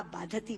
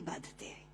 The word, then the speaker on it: बाधते: कष्ट दे रहा है, क्योंकि बाधती शब्द का अशुद्ध उच्चारण आपने किया है। ये शब्द बाधते होना चाहिए। भारम न बाधती राजन यथा बाधती बाधते।